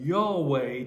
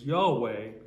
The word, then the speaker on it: Yahweh: not have any vowels it only has consonants therefore it cannot really be pronounced uh j h w h is hard to pronounce whoop whatever it is but of course we in english have added a couple vowels and we refer to that word as yahweh but this is really